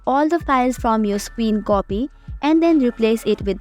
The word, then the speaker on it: scrcpy: Android screen mirroring tool also known as or pronounced as screen copy this application is a